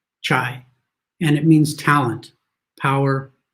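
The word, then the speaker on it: 才: pronounce this correctly, but I think the symbol is pronounced chai, and it means talent, power, or genius.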